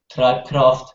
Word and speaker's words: Tribecraft: We're called Tribecraft, which not only has an English meaning, but also, if pronounced in German, Treibkraft is the same as driving force.